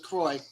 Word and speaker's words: Saint Croix: I got you yeah like Saint Thomas and Saint Croix Virgin Islands that's Kroy but see I I